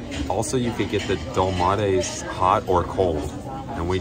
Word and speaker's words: dolmades: Dolmades, whatever. All right, he said it was pronounced dolmades.